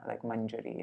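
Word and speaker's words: mañjarī: if I mentioned this, but this N becomes a Y, or an I and a Y, if there's a vowel on either side. If there's no vowel on either side, then you pronounce it like manjari and like that, kunje.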